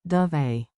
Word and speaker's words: Dov'è: It's like dove A.